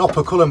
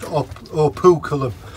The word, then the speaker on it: operculum: And that shell there, I call it an operculum, but people have told me it's pronounced opuculum.